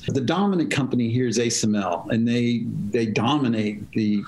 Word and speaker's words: ASML: the dutch do but it's actually asml that's why we've taken on the dutch pronunciation of that fair enough i appreciate